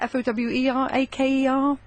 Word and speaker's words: Foweraker: So, yeah, Fower, Aker is Foweraker.